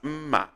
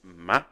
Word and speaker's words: mma: This same word can be pronounced as mma. Giving a low tone, it becomes knife. If you give a high tone, it becomes beauty, mma. But this case is flat, which is ma.